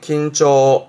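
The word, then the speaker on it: 緊張: 지금처럼 활을 당기는 상황에서 긴장하는 긴장의 긴초, 긴초. 앞 글자가 과자라 자랑할 과자, 과시하는 과자라서 과장하는, 발음은 고초, 고초.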